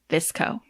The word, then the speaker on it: VSCO: So it is written out VSCO, but it is pronounced VSCO.